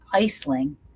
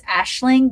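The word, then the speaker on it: Aisling: Her name is Iceling. It's It's Ashling, but it's spelled Icel.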